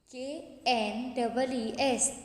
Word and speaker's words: knees: Number 14, K-N-E-E-S, knees. knees यानी बेटा हमारे घुटने. K-N-E-E-S, knees. K-N-E-E-S, knees. K-N-E-E-S, knees. Here the K is silent, so we pronounce the spelling as knees.